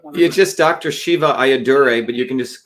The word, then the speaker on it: Ayyadurai: sir would you please give me the correct pronunciation of your last name I don't want you just Dr Shiva ayaduray but you can just call me Dr Shiva